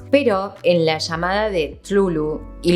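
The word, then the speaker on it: Cthulhu: llamada de Tlulu, y lo pronuncio así porque gran parte de la eh cosa de Lovecraft son estas palabras que no se pueden pronunciar porque no estarían hechas para ser pronunciadas por un ser humano, básicamente.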